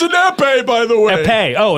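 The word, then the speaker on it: épée: It's an epee, by the way. Epee. Oh, it's like an epee pen. Yeah, you pronounce it in a way.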